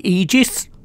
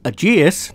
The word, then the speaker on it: Aegis: a quick look at the egis or Aus depends how you want to pronounce it saber now this